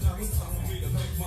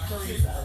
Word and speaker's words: Farissa: That's not Name is pronounced Farissa. Yeah. No, thank you. Just wanted to make sure. Okay, that's fine. I got that. Sometimes I don't even hear it. Okay. Farissa. Like Teresa with an F, I tell people.